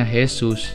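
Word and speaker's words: Jesús: Kan tulisannya Jesus. Tapi kalau dalam bahasa Spanyol nih guys, Jesus dibacanya Jesus.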